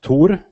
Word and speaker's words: Thor: It's the Scandinavian name, pronounced Tor.